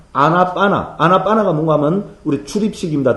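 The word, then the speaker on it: ānāpāna: 자 아나빠나 할 때죠요 맨 마지막 뒤에 오는요 발음은 지금도 인도에서는 발음을 하지 않습니다 그죠 그래서 아나빠나 우리는 아나빠나 하지 은 지금 인도 사람들이 한다면은 안반 안반 요렇게 바람합니다 됐죠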